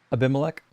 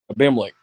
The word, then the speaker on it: Abimelech: How do you pronounce his name? What are you saying? Abimelech. Abimelech.